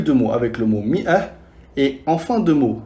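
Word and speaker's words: مائة: seulement avec le mot mi'ah, qui veut dire 100. Fi kalima mi'ah, on rajoute le Elif, mais ne se prononce pas.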